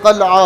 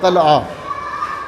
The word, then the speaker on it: قلعہ: باقی جو قلعہ ہے یہ قلعہ نہیں ہوتا، یہ قلعہ ہوتا ہے، قلعہ۔ تو یہ وہ الفاظ